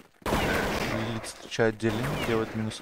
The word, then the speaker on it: Лилит: В чате Паша нам пишет, что правильно да, произносить Лилит. Именно так, как я сказал, да, Лилит.